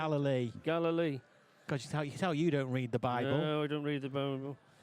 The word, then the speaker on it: Galilee: How do you pronounce Galilee. Galilee.